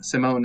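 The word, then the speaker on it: S1m0ne: sometimes they don't anyway here's one sim sim simone is about an accent yeah so it's it's spelled s one m zero and e um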